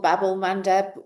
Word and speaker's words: Bab-el-Mandeb: of um um Bab-el-Mandeb I think it's pronounced Babel Bab-el-Mandeb um which is the